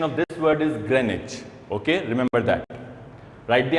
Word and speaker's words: Greenwich: it greenwich for so long but the correct pronunciation of this word is greenwich okay remember that write the answer now let